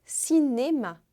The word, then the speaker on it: cinéma: Cinema, em francês, é cinéma. Como será que se escreve?